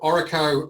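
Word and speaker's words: Orreco: association yeah yeah of course so um so oracle um as we pronounce it so it stands it's sort of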